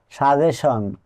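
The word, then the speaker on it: suggestion: letter আসলেই সন হবে আরো কিছু উদাহরণ যেমন সাজেশন এখানে টি এর আগে এস আছে কিন্তু টি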